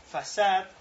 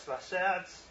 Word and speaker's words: façade: Lo va a recibir un façade, que es la pronunciación aparentemente correcta de esta palabra, porque es francesa, que quiere decir una fachada, en la que nos va a exponer la API de Java.